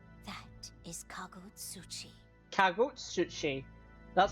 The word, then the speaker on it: Kagutsuchi: Kagutsuchi. That's how you pronounce that. Kagutsuchi.